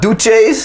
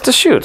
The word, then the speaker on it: Deschutes: oh yeah I just realized it's a house pronounced the shoots yeah it's a do chase no it's to shoot it's not do she shoots was a Rob's